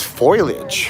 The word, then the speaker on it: foliage: It's foliage. Foliage, Lisa, foliage.